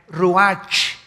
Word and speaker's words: ruach: El ruach, que se escribe R-U-A-C-H, ruach en el hebreo. Y se pronuncia igual, ruach.